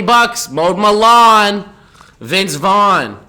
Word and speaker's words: Vaughn: mowed my lawn Vince Vaughn his name rhymes with Sean but he ain't Sean and is it correct using